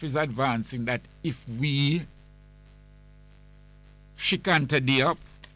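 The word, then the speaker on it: Cheikh Anta Diop: Diop is advancing that if we Shikanta Diop, his name is spelled Cheikh, Sheikh, Anta Anta Diop, Diop, Shikanta Diop.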